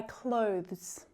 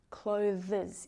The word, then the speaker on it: clothes: Try clothes. This is definitely a tricky one to pronounce but we don't want to hear clo-thes clo-thes is incorrect.